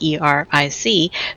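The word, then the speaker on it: Aric: So for our listeners, don't mistake Eric with like our modern human spelling of Eric, E-R-I-C. But Tonia has corrected us here. It is spelled Eric, A-R-I-C, Saurfang.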